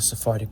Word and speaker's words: Sephardic: And this pronunciation of Hebrew is largely based on the Sephardic pronunciation of Hebrew.